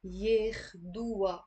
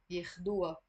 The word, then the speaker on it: ياخدوها: So the ha here means her, but the ha, because it's a possessive ending in the Lebanese dialect, you can avoid pronouncing it, and immediately after the waw you're pronouncing the alif. That's why it sounds wa. ياخدوها. ياخدوها. And the alif here I'm pronouncing it as a e.